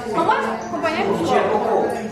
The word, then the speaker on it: Foucault: Sino que lo escribe así, pero se pronuncia Foucault porque es una vaina francesa. ¿Cómo es, compañero? Foucault. Foucault.